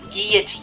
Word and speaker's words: guillotine: I know it's pronounced guillotine, which is pretty cool. So sometimes when you see two L's in the English language, you pronounce it like with a Y.